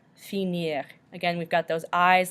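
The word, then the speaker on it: finir: find same thing however if it's an IR verb we can still pronounce the R at the end so this means to finish and it's pronounced senior senior again we've got those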